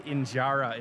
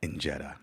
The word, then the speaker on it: injera: And our first stop is to see how the famous Ethiopia injera is made. He messed up already with the pronunciation. He already messed up with the pronunciation. They pronounce it as enjera.